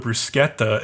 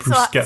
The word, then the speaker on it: bruschetta: They go to this nice ristorante and they order a shitload of bruschetta, and like Bruno actually pronounces bruschetta correctly, and I was like, damn.